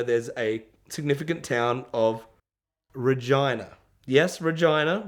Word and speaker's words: Regina: a significant town of Regina. Yes, Regina. We thought it was Regina. We all said Regina the whole way. That's how it's spelt. Anyway, we got there. The locals called it that.